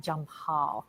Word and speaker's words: Jampal: and we are talking we are talking about jump Hall and I hope I am pronouncing that correctly junior did I correct that